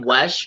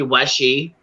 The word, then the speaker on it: Weshy: I just had to jump up because everybody keeps saying my name Wesh, which is all right. That's an acceptable mispronunciation of my last name. But it is actually Weshy. Like Weshy. Like wishy-washy, Weshy.